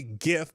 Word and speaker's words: GIF: the GIF GIF whatever I say GIF because the G stands for graphic which is a hard G not a soft G it's a g g